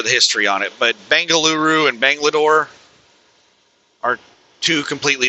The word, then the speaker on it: Bengaluru: And she said it's actually pronounced Bangaluru.